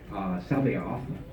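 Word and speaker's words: C'baoth: Sabaoth.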